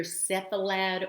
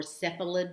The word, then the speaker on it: cephalad: less commonly you will hear cephalad or cephalid depending on how the person pronounces it so you will hear